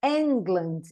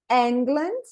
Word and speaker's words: England: sílaba tônica das palavras se vocês observarem England ele começou com a bolinha grande e diminuiu anglands e ele começou fraco e terminou intenso então repetindo comigo England só tem mais um